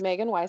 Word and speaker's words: Magen Weisheit: your website or social media perfect perfect you pronounced it just fine my name is Megan wife hi I'm a little background I've been a